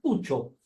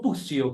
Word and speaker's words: Puccio: Justamente estábamos hablando de su apellido italiano, que se pronuncia Puccio, no Puccio, como le dicen normalmente.